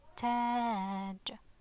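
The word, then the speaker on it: تاج: Okay, imagine if there was no alif, it would be taj, just a short ah, taj, but with alif it's taj, taj.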